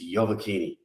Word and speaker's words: Iovacchini: with me today and i'm going to get your last name it's your bikini perfect perfect pronunciation uh fantastic so we're